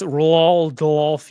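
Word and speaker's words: Roald Dahl: you pronounce his name r doll yeah thank you no you forgot the L it's Ral DOI it's but I saw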